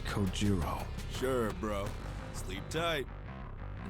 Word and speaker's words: Kojiro: The way he deliberately mispronounces my name really bothers me. It bothers me so much that the anger boiling inside me gives me strength to open my mouth once more. It's Kojiro.